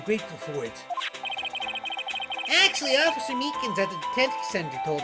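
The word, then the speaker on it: Meekins: Actually, Officer Meakans at the detent center told us. Oh, that little doggy. I keep getting his name wrong and calling him Meekly.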